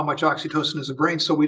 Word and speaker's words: oxytocin: into that yeah yeah Jerry how do you pronounce it oxy oxytocin oxytocin are there pills yes you're honored well